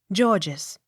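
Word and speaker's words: Gorges: r g e s georges the first g hard and second g soft g o u g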